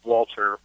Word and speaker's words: Walther: ahead and set the record straight at Walter but with an H - Walter so okay so it is pronounced that lter just spelled differently that's just